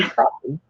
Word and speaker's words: crappie: In Arkansas, we don't like to refer to our fish as crappie. We like them to be crappie. Yeah, we say crappie. And I know how it's spelled, but we still call them crappie.